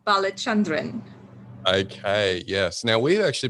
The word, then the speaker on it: Balachandran: so well and the surname goes balachandran okay yes now we've